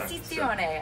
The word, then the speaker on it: Esposizione: He's said it so many times that I've been like, okay, that's how it's said, and I'm going to remember that for the next time. Esposizione, I love it came it.